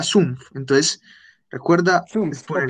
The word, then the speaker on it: Sumpf: Y acá le diste Stumpf, pero era Sumpf.